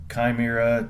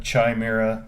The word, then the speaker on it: chimera: from but you know chimera chime era both pronounce pronunciations are actually correct however you want to do it these things are just